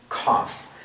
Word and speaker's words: cough: this word is pronounced cough so in reality this gh is pronounced like an f cuff similar to chef